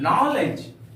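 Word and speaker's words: knowledge: एजाम पल लेते हैं नॉलेज के एन ओ डब् एल ई डी जीी प्यारे इसको हम लोग पढ़ेंगे क्या नॉलेज कॉलेज नॉलेज नहीं बोलेंगे कॉलेज नहीं बोलेंगे नॉलेज कॉलेज यहां पर एन के पहले के का प्रयोग किया गया है इसके का उच्चारण नहीं करेंगे इसको पढ़ेंगे हम लोग नॉलेज नॉलेज का अर्थ होता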